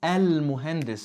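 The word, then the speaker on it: المهندس: If you read it on its own, al-muhandis, it's pronounced with a fatha.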